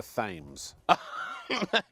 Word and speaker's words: Thames: Now, Richard, I just want to say I have it on good authority from an American tourist that it's pronounced the River Thames.